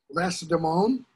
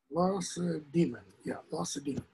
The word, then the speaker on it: Lacedaemon: So they go off to Lacedaemon, I believe is how it's pronounced. Lacedaemon.